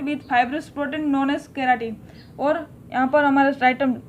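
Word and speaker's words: keratin: उसको हम कहते हैं केराटिन प्रोटीन। आप कैरोटीन भी बोल सकते हो, केराटिन भी बोल सकते हो, लेकिन केराटिन सही है। ओके, प्रोनाउंस करने के लिए सो आप केराटिन ही बोलिए।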